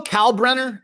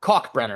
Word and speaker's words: Kalkbrenner: Uh wow, it's a crazy Kalk Kalkbrenner, I guess, is how you say his name. K A L K Brenner.